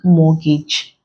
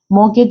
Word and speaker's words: mortgage: our answer here becomes mortgage mortgage is good because the T here is silent but there is consonant